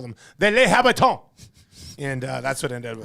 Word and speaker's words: Les Habitants: It would be Les Habitants, but you say it like French, Les Habitants.